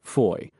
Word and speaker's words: Foy: mount a foot patrol from Fua or as we pronounced it foy along the main road toward Noville.